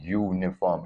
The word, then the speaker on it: uniform: It starts with a Y sound, uniform.